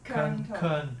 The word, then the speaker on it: Keung To: 是Keung To Keung To * 3 -Keung * 3 -Keung To 带K的